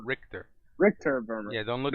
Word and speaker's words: Richter: so wait, Richter, Just Rick, like Rick, Rick and Morty. Richter, Richter.